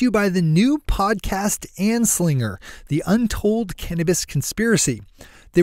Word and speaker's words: Anslinger: To find Annie's great new show on iTunes, just search for the word Anslinger, which is spelled exactly how it sounds, Anslinger. Good morning, Marijuana Nation.